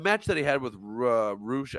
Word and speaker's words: Rush: and I'm not saying MJF had the match that he had with Roosh. I think they're saying it's Roosh. It's spelled like Rush or whatever.